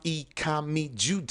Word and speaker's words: Ikamijudeh: On social media, I am Ikami Jude. It's spelled IKAMIJUDEH.